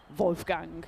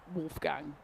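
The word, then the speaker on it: Wolfgang: So even things like Vulf Gang, you'd have Wolf Gang.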